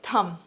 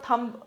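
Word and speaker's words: thumb: ठीक है, इसका प्रोनाउंसिएशन कैसा, थंब, ब नहीं बोलते हैं, थंब। ठीक है, बी साइलेंट है यहाँ पे, अंडर इट्स थंब।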